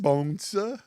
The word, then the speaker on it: Bonssa: Bonssa. Bonssa. Yes. Bonssa. That's how you say it? That's actually how you Yeah, pronounce can it.